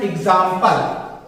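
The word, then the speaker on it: example: जैसे यहां पे हमने एग्जाम्पल, एग्जाम्पल, यहां क्या कहेंगे? एग्जाम्पल, एग्जाम्पल। देखिए जा के नीचे डॉट रखा हुआ है, एग्जाम्पल, जा का उच्चारण हम लोग यहां लेते हैं।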